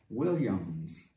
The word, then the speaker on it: Williams: Williams. Pronunciar com esse som de W.